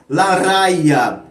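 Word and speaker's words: La Raya: Em castelhano se pronuncia Larraia e em galego falada Arraia.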